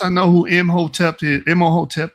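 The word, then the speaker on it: Imhotep: Emoteep or however you say his name. Im Hoteep is how I usually pronounce the name.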